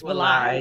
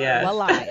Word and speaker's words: Walai: Because I was reading the pronunciations, but I was like, is it Wali or Walai? It's Walai. Walai.